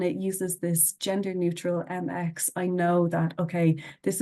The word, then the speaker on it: Mx: um which is called MX and that is pronounced as mix very very simple um and again for